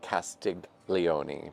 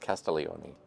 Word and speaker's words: Castiglione: Castellioni has a silent G in it, by the way. It looks like Castig Leonei, but it's pronounced Castellioni.